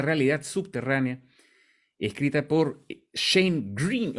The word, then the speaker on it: Greene: subterránea escrita por Shane Green o Green no tenía esta duda Cómo se pronuncia como verde en inglés solo que extra al final Oye está muy buena